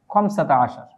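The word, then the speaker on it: خمسة عشر: যোগ করে 15 যেভাবে বলি আরবিতে সেটি হচ্ছে খমসাতা আশার। এগুলো এই যে কোথাও আমরা আহাদা আশার লিখছি, কোথাও সালাসাতা আশার লিখছি, খমসাতা আশার লিখছি, আবার কোথাও দেখা যাচ্ছে এহদা আশার হবে, কোথাও দেখা যাচ্ছে সালাসা আশারতা হবে।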